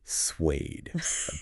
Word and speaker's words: SWADE: world's Adventure Edition SW suede blade but with an S got to nail that pronunciation we're going to break